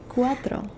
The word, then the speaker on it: cuatro: 4 is cuatro. 4, cuatro. Cuatro. Tro. Okay, like Trump.